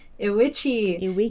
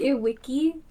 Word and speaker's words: IWICCI: Welcome back to Witchi or Damn it Witchi. You're right. I just like Wiki.